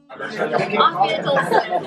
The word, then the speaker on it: Afiyet olsun: Afiyet olsun.